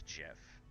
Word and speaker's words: GIF: him is that a gif of him gif jiff we'll start the great debate here i've always heard that apparently the actual guy that invented it he pronounced it as jiff even though it's a